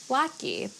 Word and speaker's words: latke: is to say that I pronounce it lucky. If you're from Chicago or parts of Boston, you're probably nodding your head saying like, "Yeah, of course, Lis."